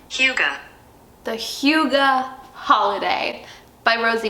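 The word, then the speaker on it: Hygge: I always mispronounce this. I always want to say Higgy. Huga.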